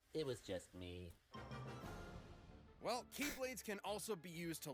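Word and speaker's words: χ-blade: explosion from when the keyblade was destroyed yeah he means the x-blade it's just pronounced like keyblade even though it's just one keyblade ah the series is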